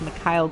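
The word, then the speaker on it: Mikael: By the way, it's not pronounced Michael Granlund as the NBC guys always seem to pronounce them. It's Mikhail You want to Granlund.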